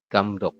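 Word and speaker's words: 감독: huruf giok jika posisi di akhir dibaca k dibaca k betul jadi kita Bacanya adalah gamdok seperti ini ada yang berbeda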